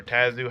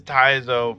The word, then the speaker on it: Taizo: And it turns out that it's Taizo, or Tazu, however you want to say his name. I say Taizo. It is Taizo from the Vasel Fight Festival.